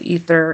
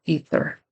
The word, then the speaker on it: ether: finally an ether he makes a good attempt with ether it's an uncommon word it's a kind of gas and it needs to be a soft th ether her efforts were not